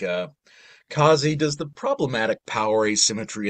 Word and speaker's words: Kazi: I'm pronouncing it correctly it doesn't rhyme with Nazi H kazy yeah no it's not Kazi it's just kazy most people think that